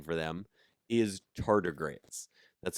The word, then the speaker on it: tardigrades: piglets but the scientific name for them is tardigrades that's spelled t-a-r-d-i-g-r-a-d-e-s tardigrades but honestly the scientific name for me